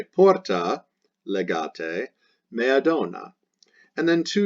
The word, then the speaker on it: legate: Now here we have ambassador, that's legatus E masculine, so it does change to the letter E, pronounced legate.